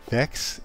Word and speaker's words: Vechs: Vechs is also how to pronounce Vechs.